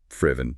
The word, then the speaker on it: Friven: The work of Friven Lim. That's pronounced frivven by the way.